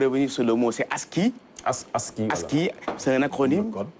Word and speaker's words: ASCII: Donc, je vais un peu revenir sur le mot, c'est ASCII.